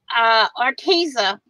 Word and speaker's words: Arteza: Arteza is the correct pronunciation.